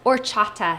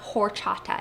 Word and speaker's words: horchata: So the first thing to know about this recipe is that it is pronounced "orchata," not "horchata." It's a silent H, so it's "orchata."